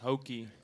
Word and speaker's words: HOKY: Hoke playing IDs which is also coincidentally called hokei and that's the correct pronunciation right yes yeah it's hokei Hoke okay all right have everybody situated did